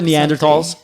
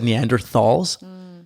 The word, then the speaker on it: Neanderthals: yeah and we're the neanderthals and like this is so annoying but like i've always said neanderthals yeah apparently it's neanderthals it's a silent h so for all you